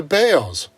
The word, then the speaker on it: Balls: Harry balls was gone his family changed the pronunciation of their last name to Bales I guess it bailed